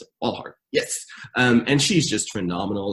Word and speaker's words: Walthall: I think that's how you pronounce it. Walthall.